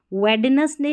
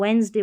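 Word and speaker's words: Wednesday: फिर देखिए D silent रहता है, यहाँ पर देखिए वेडनेसडे नहीं बोलेंगे, इसको वेंसडे बोलेंगे, वेंसडे। और यहाँ पर हैंडकरचीफ, ये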